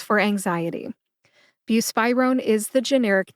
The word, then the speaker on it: buspirone: Put that all together and you get buspirone. Emphasize spy. See if you can hear that emphasis when I say it again. Buspirone.